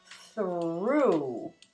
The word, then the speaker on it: through: This time, the GH is silent. It doesn't through.